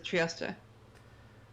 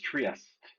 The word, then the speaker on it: Trieste: stop is Trieste.